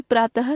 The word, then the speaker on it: प्रातः: हिंदी में विसर्ग का उच्चारण समाप्त हो गया है, इसे भी ह की भांति उच्चरित किया जाने लगा है। अतः हिंदी में प्रातः तथा सुबह शब्दों की अंतिम ध्वनि के उच्चारण में अब कोई अंतर नहीं रह गया है।